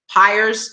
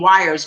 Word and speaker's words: Pyers: phenomenal time with Chris Pyers. Like I said, last week I told you I'm learning how to say his name. Sometimes I call him Wires by accident because I'm learning how to say Pyers.